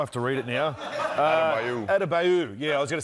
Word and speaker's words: Adebayo: Yes, Bam, how do you pronounce his name? I have to read it now. Adebayo.